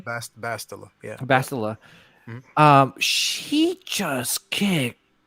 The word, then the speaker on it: Bastila: Bastila, yeah.